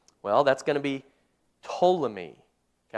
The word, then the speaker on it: Ptolemy: Well, that's going to be Ptolemy. Okay, I'm going to spell it for you because it's got a silent P there.